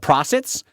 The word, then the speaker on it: Prahsitt: the naming was the Prosits. Because they're a somewhat worm-like creature. The name is spelled Prahsitt, right? Yeah. And I wanted the name to have an echo of prawns, if you know what a prawn is, right?